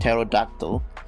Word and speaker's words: pterodactyl: actually pronounced but however english does not allow the ps pt and pn sound therefore the p sound is silent another thing i want